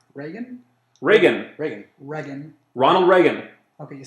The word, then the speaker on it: Reagan: oh and also he said uh it was rean rean who he cut school school budgets a